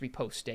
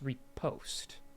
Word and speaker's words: riposte: I used to think it was riposte, but it's riposte. Oh, is it? You don't Okay. pronounce the E, so.